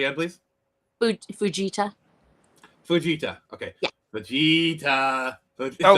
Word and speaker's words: Fujita: an F1 to an F5, which is the Fujito scale. Am I correct? Yes. I think I'm slightly mispronouncing the guy's name. No, you're. Say again, please. Fujita.